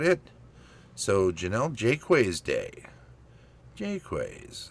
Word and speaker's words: Jaquays: So, Janelle Jquways Day, Jqus, that's how she pronounced it.